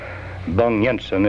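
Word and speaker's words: Bang-Jensen: an anti-c communist Paul bang Jensen bang Yensen is a close equivalent of the Danish pronunciation of that name bang Jensen a career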